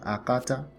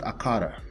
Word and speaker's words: akata: me that's the tone akata ray mimi right and not akara that's wrong strong pronunciation okay akata means